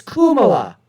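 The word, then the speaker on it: Kamala: oh excuse me folks the Indian way to pronounce it is Kuma anyways somebody in her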